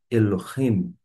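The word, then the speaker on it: אֱלֹהִים: vai formar e vai fazer aquela junção de sílabas E vai formar a palavra Elohim E por falar em lo Note que nós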